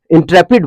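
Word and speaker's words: intrepid: तो उसको बोलते हैं इंटरप्रीट। इंट्रेपिड पढ़ते हैं इसको, लेकिन हम बार बार इंटरप्रीट पढ़ते हैं, INTR स्पेलिंग याद रहो इसलिए।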